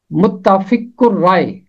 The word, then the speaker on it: متفق الرائے: اور اس کا تلفظ ہے متفق الرائے، متفق الرائے۔ اور حوالہ ہے جب